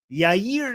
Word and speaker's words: Yair: Netanyahu's son Yer Netanyahu. Am I pronouncing his name right?